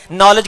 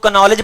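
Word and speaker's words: knowledge: नॉलेज को कोई कनॉलेज पढ़ दे हम उस पे हंसते हैं कि कनॉलेज में के साकिन है, पढ़ा नहीं जाता।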